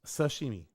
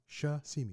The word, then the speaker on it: sashimi: Yeah actuallyi is sashimi shashimi you always say it wrong. Sashimi shashimiomi Z is real.